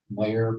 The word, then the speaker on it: Mayor: Mayor pronounced as in official.